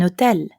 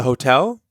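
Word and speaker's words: hôtel: N like in an Hotel a hotel can you hear the difference a cafe an Hotel utel starts with an H but in French the H is always silent so you'll have to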